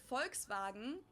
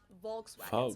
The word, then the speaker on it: Volkswagen: it would be pronounced Volkswagen at not Volkswagen so just imagine that it was spelled folks Volkswagen this is far